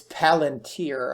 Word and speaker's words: Palantir: well which is this i call it planter but it's not pltr let me should i start doing hashtag planter it's palantir i believe i'm saying that right often mispronounced stock names